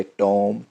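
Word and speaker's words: tomb: Silent समझेंगे, जैसा कि टॉम, com, Baum, lamb, climb, डम। इसमें बी की साउंड नहीं आई है, क्यों? बी साइलेंट था, क्यों? एम के बाद आया।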